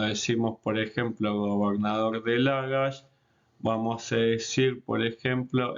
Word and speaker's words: Lagash: Y después tenemos Shirburlak, que es Lagash, y lo vamos a escribir también con puntos entre las sílabas y en mayúscula.